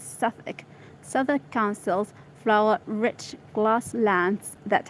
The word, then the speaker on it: Southwark: Let's see this, how to pronounce it. Southwark? Southwark. It's Southwark.